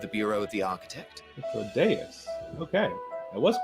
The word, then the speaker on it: Hythlodaeus: Hythlodaeus. Okay. I was correct about pronouncing Sulking beside me is the most Perfect.